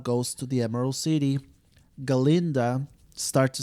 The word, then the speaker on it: Galinda: how to pronounce gind he was always saying her Glinda Glinda without the a without the A and